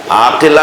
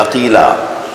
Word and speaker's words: عقیلہ: عقیلہ، عقیل، عاقلہ نہیں، عقیلہ. جس لہجے میں قمر بنی ہاشم بولا جاتا ہے نا، اسی لہجے میں عقیلہ بنی ہاشم بولا جاتا ہے.